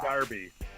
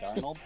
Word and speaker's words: Darnold: I said Sam Darby. Sam Darby for Heisman. Sam Darnold? Darnold, whatever his name is.